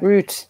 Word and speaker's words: Ruth: work in french um well that th is pronounced like a t so ah so the same effect root yeah which just really